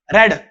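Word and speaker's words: read: second form third form तीनों की spelling same ही होती है लेकिन प्रोनाउंस डिफरेंट होता है जो फर्स्ट फॉर्म होती है उसे रीड बोलते हैं और सेकंड थर्ड को रेड बोलते हैं तो हैज हैव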